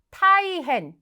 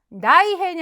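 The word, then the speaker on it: 大変: 대개 대체적으로 남편이죠 자 매우 큰일이란 표현 대단히 타이헨 나이헨이 아니라 타이헨 자 이번에는 앞에서 우리가 조금이란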